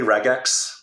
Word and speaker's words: regex: argument here is it regex or reg yeah so I think it's probably regex hard G I feel like you're